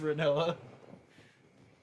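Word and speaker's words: Rinoa: It's pronounced Renoa.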